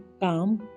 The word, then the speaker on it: calm: LBMFK की आवाज़ से साइलेंट हो जाता है। PALM, पाम, यानी कि हथेली। CALM, काम, यानी कि शांत।